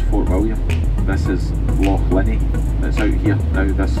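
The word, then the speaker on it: Linnhe: And basically what it is Loch Linney out there is spelled L-I-N-N-H-E, right?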